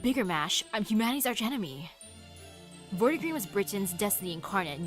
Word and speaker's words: Vortigern: What would a soft G be at? Man, when it comes to like the G sounds, it's so difficult. Your Vortigern failed because he couldn't cross that line. Oh, it's a J sound.